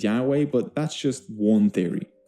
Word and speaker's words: Yahweh: y h w h the actual pronunciation of yhwh was lost thousands of years ago today it is sometimes pronounced as Yahweh but that's just one